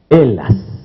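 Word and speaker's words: Ελλάς: ¿Cómo se dice Grecia en griego? Elas.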